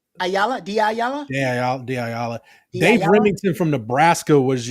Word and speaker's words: Diallo: Ayala? Diallo.